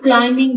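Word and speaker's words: climbing: गई है सना इज क्लाइमिंग the mountain क्लाइमिंग चढ़ना इसमें बी साइलेंट है ही रैप्ड द रिस्ट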